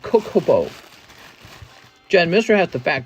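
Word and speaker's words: Chocobo: okay Jennifer Yap that's how you say it choke oboe that's how you say it bro it's called cocobo Jen Mister has the fat cocobo slab on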